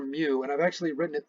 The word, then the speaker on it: mu: the left it's the greek letter m it's pronounced mu and it is the letter that we use